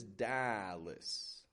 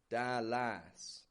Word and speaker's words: Dallas: So notice when I say this, Dallas, I'm not giving it a Dallas. It's getting a schwa, is. That schwa, very weak, reduced vowel sound. Whereas the A, that is stretched out, and it does get stress, and it's kind of strong in its sound.